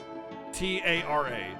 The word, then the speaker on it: Tara: But it's spelled T-A-R-A. Tara. Terra. That's how it's spelled. Not T-E-R-R-A.